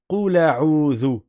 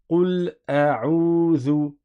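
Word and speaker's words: قُلْ أَعُوذُ: Là, ça existe de réciter Qula, Qula a'udhu, Qula a'udhu, mais ça n'est pas dans la lecture de Hafs. Dans la lecture de Hafs, il est indispensable de prononcer la Hamza, et donc on dit Qul a'udhu, Qul a'udhu, Qul a'udhu, à vous.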